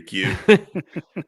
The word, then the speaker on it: queue: I had that in my quay, and she's like, "You're what?" In your queue. And she's like, that's not how you pronounce that.